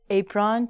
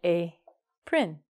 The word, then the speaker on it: apron: Apron changes to apron.